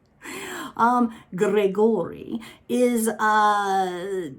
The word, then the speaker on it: Grigori: this book is called gregory and i say it like that because that's the way they pronounced it in the audiobook um gregory is uh it's essentially